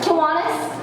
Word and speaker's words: Kiwanis: And the Starkville, how do you pronounce this one again? Kiwanis Club?